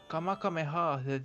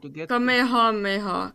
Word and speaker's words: Kamehameha: Kamakameha. Kamehameha. Kamehameha. Is that weird thing I was trying to pronounce another day?